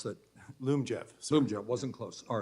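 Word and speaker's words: Lyumjev: insulin so that means oh I may be mispronouncing it Liam Jeff how do you pronounce that Loom Jeff Zoom job wasn't close all right that's going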